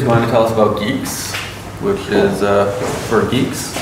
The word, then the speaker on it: Guix: Geeks so Geeks is a new thing it's pronounce Geeks like gu and not gu and geks okay